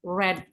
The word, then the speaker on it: read: boleh read kan kalau membaca itu kan kata kerja pertamanya itu read ya kata kerja keduanya apa Iya kata kerja keduanya red tapi tulisannya begini ini dibacanya tapi red karena kata kerja kedua